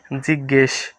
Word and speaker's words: জিজ্ঞেস: ফালা পুত্র পুত্র জিজ্ঞেস এখানে যুক্তবর্ণ হচ্ছে এই যে বর্গীয় জয় দুটি বর্ণ মিলে এটা হয় দুটি বর্ণ মানে দুটি অক্ষর মিলে এখানে রয়েছে বর্গীয় জ আর ইয় উচ্চারণটি হবে জিজ্ঞেস জিজ্ঞেস জেষ্ঠ এখানে হচ্ছে এই